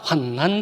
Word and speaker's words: 환난: 제가 발음을 환난이라고 하는 것에 조금 혼돈이 있을지 모르는데 환란이 아니고 환난이에요. 환란은 난자가 아니고 란자로 기록을 합니다. 그래서 제가 환난이라고 읽는 거예요.